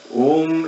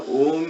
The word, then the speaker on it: Om: So the mantra Om itself is split of 3 sound energies, O, U and Ma. If you study pronunciations, you can the way you pronounce Om, starts like from the base of the throat, U comes to the tip of the tongue, and mouth is closed.